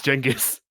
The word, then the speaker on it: Genghis: big changes is funnier because chingus is actually closer to how you're supposed to pronounce genghis i i know what